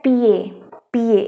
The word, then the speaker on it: pied: Okay, PIED ये होता है PA. इसका मतलब होता है फुट. ठीक है, अब इसमें क्या होगा, D साइलेंट हो जाएगा because D इज a consonant. Okay, तो ये पियद ना होके PA हो जाएगा.